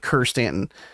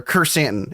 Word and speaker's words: Krrsantan: Chrysanthemum is Krrsantan, sort of like Kerstanton or Kersantan.